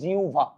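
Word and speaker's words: জিহ্বা: আরে না ভাই এটা হবে উচ্চারণ আজকে থেকে জিউভা। তাহলে আপনারা আমাকে বলেন তো জিউভা।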